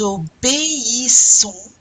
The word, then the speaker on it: obéissons: You're going to pronounce the E and the I separately, right? Nous obéissons à nos parents. Nous obéissons. You know that E accent aigu is pronounced like A. Obéissons. The I is pronounced like a E.